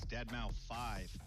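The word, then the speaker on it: deadmau5: This is your good friend Joel, professionally known as Dead Mau 5. Yes, that is the correct way to pronounce it.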